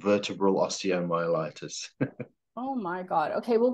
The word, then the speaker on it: osteomyelitis: So how do you pronounce that word I messed up? It's osteomyelitis.